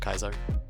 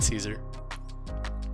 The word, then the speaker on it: Caesar: The show basically confirmed that they were saying it wrong, though, that it should be pronounced Caesar, not Kaiser.